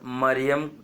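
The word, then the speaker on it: מרים: उसका मीनिंग निकलता है तो मरियम नहीं मिरिया नहीं और मारिया नहीं और मेरी भी नहीं मरियम्मा भी नहीं मिरियाम बोलना चाहिए मिरियाम का पति था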